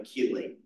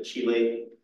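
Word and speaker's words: chelate: complex is called a keyate um I believe that comes from Greek word which is why why we don't pronounce it a Chile the keyate um and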